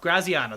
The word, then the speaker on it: Graziano: So ESPN's Dan Graziano, I can't pronounce his name. I apologize. Graziano, that's how it is.